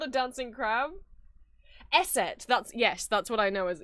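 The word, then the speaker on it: Eszett: Esset.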